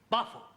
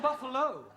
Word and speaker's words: buffalo: a big bull oh Buffalo teril confused yeah words that um endino like Buffalo or radio or vertigo you pronounce the O but when there is no o you don't add one understand yes I give